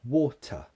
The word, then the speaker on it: water: the first syllable water so the second syllable is what we call a weak form that means it becomes a schwa so water water water second word